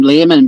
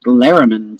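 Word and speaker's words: Lehrmann: lariman and Brittany Higgins I kept calling him Lehman but I've heard so many people including what up we're doing a watch party tube that they're sort of pronouncing like lariman so I'm trying to get my head around pronouncing it that way but um I really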